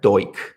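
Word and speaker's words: Duch: One of the few guys who was put on trial in Cambodia is called Comrade Doik. This is normally spelled like Dutch. It's a very peculiar name in terms of how it's Latinized.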